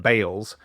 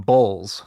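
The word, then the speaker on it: Baals: b a a LS the pronunciation is that because he was once on a radio show with a guy called Bob Chase who wasn't quite sure what to say in the moment and so he pronounced the mayor's name Bales so he said mayor Bales is with us and uh and he called him on it and he said son this is your mayor I pronounced my name balls so he was very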